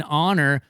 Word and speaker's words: Houston: South part of Manhattan they all call it hon Street H it's spelled house oh my goodness H